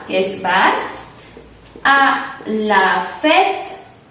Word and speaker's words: fête: Entonces tenemos tu vas, que es vas, a la fête. A la fête, así una E muy grande está mejor.